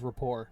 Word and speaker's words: rapport: bow wow uh also that word is rapport not like the t is silent uh i always i